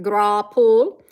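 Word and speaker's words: graupel: Grapple, pronounced grapple, is a common in all thunderstorms, and it's almost always, it melts before it hits the ground.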